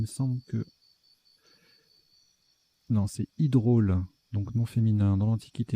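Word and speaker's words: hydraule: Je ne sais plus comment ça se prononce, mais il me semble que... Non, c'est hydrôle.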